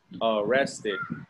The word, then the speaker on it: arrested: Remember, if in the present the word ends with a T, like here, arrest. Arrest ends with a T. You add one more syllable and id. Arrest. Arrest id. Arrest, arrested. Same thing with convict.